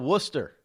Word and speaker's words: Worcester: How about Worcester? There is a town called Worcester or Worcester. W-O-O-S-T-E-R. That's the way you think they pronounce it.